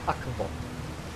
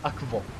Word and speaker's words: akvo: So the word for water in Esperanto is akvo. Akvo. Close this door. Oh, dude, I just scared myself by kicking. Okay, so the word for water in Esperanto is akvo.